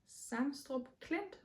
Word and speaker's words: Sangstrup Klint: The third one is called Sangstrup Klint, and I pronounce that differently because I'm pretty sure that's Danish, and I am a